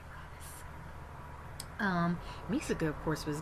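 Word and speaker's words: Ravus: voice for robis but I don't know it's pronounced Ravis but I just say robis um me of course was glorious always made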